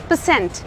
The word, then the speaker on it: percent: परसेंट, परसेंट नहीं, परसेंट। The stress is on Saint.